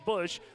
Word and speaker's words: Bush: You have Shaylee Bush, make that Bosch, Lacey, her last name spelled the same but pronounced Bush.